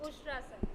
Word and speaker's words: उष्ट्रासन: ही बढ़िया हैं, लेकिन आज हेमा जी हमें उष्ट्रासन दिखा रही हैं, राइट? सही प्रोनाउंस किया मैंने? Yes ma'am, correct. उष्ट्रासन।